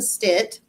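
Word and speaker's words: Stitt: to look it up it's Oklahoma governor Kevin Stit I can't man I had to make myself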